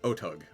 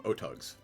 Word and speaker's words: Otyugh: I always pronounce it Otug. Otyugh? How do you spell it? Otyugh. Let's see if I click on it, it gives me pronunciation. It doesn't. I always pronounce them Otugs.